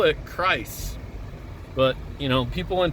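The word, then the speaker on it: Kreuz: I think it's pronounced Christ's Barbecue. It looks like Cruce or Crease Barbecue, but I think they say Christ.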